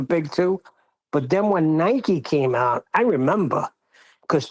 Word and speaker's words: Nike: Nikki Nike, I'm pretty sure it's Nike. I've never heard anyone pronounce it as Nikki's.